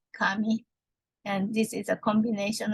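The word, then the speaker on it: 紙: And etymology of paper, just for your knowledge, the Chinese character pronounced in Japanese like kami, and this is a combination of thread and flattened.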